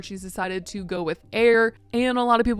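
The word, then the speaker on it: Aire: They were saying, is it Ayer? Is it Airy baby? Like, what is this name? But she ended up clarifying in the comments that it's just Air.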